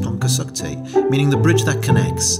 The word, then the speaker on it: Pontcysyllte: For the non-Welsh speaker, it's pronounced Pontcysyllte, meaning the bridge that